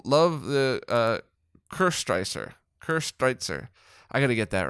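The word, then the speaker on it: Köstritzer: to double check um also co-striker is um coasterizer i keep saying it wrong it's one of my favorite dark beers my german father-in-law always has a case in his pantry it's pronounced almost like ker streitzer oh see pronunciation right there i really like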